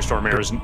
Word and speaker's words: Stormare: People keep trying to get me to pronounce Peter Stormare's name the right way, which is like Stormare, but here's the thing. That is never going to happen. I will never pronounce his name correctly.